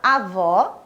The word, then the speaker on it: avó: lá para ficar clara a diferença entre um som aberto indicado pelo acento agudo e o som fechado indicado pela acento circunflexo leia as seguintes palavras eu tenho duas imagens aqui a imagem da avó e a imagem do avô esse exemplo exemplo bem